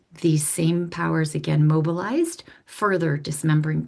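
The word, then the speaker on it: Sejm: was called the same s ejm pronounced same.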